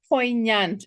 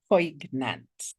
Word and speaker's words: poignant: Some pronunciations poignant is pronounced poignant and not poantant.